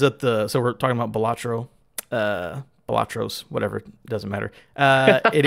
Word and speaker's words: Balatro: I looked it up how to say it. It is Balatro.